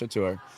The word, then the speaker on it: Catur: So for instance, with Mickey and Chatur, although it's spelled Catur, it is pronounced Chatur.